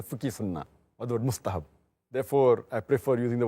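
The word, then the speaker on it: مستحب: Mustahab, not mustahab. You see, in those languages, they don't have certain letters. So when they try to speak in Arabic, their pronunciation will look so stupid.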